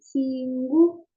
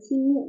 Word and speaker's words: 친구: Terus teman itu cinggu, cinggu, bukan cingu ya, tapi cinggu cara bacanya.